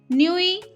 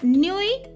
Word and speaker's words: nuit: midi noon, minuit midnight, and nuit is night. T is silent here.